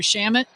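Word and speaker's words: Shamet: staying wide by landry shamit just make sure the slam it there's other words that you know rhyme with sham careful you go jam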